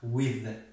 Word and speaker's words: with: این چونین یعنی th ری خونده میشود، یعنی زی با نوک زبان with یعنی امریکایی ها و اینکه انگلیسی ها این کلمه with تلفظ میکنن with، یا اینکه همچنان سی نوک زبانی هم استفاده میکنن بعضا امریکایی ها with.